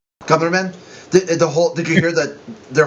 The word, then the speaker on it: Grumman: So, what do you think of the Northrop Grumman, or Gumren? How do you say that? Northrop Grumman with it. Grumman.